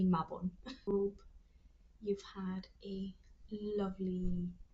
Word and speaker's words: Mabon: That's the Celtic pronunciation, the Welsh pronunciation. Okay. If you say Mayabon, that's fine. But I'm gonna say Mabon.